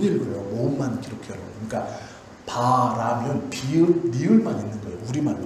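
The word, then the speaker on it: ברא: 요 모든 단어들이 뭐냐면 바라라는 거예요. 바라. 히브리 말로 바라거든요. 바라라는 말인데, 이렇게 쓰는 것은 이렇게 쓰는데요. 이건 뭐 중요한 건 아니에요. 두 글자인데 바라라고 읽어요.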